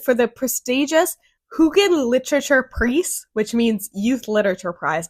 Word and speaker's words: Preis: The German translation of this book, The Barcode Tattoo, was shortlisted for the prestigious Jugend Literature Preis, which means Youth Literature Prize.